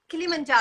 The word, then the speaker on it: Kilimanjaro: Or was it your after how do you pronounce that? Kilimanjaro, right? Yeah, Kilimanjaro.